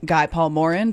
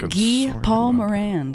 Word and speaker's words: Guy Paul Morin: It's Gee Paul Moran. Gee Paul Moran. I've never I've known a guy named Guy, but I've never known a guy named Gee.